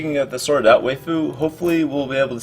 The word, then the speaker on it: Weifu: Weifu.